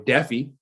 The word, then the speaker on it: Defi: it's DEFI, right? 2 Fs, yeah. Okay. I thought it was DeFi, so thanks for clearing that up. I've been saying it wrong this whole time.